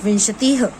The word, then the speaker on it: विंशतिः: पंच, षट, सप्त, अष्ट, नव, दश, एकादश, द्वादश, त्रयोदश, चतुर्दश, पंचदश, षोडश, सप्तदश, अष्टादश, नवदश, विंशतिः। इसका प्रोनाउंसिएशन याद रखिए, विंशतिः।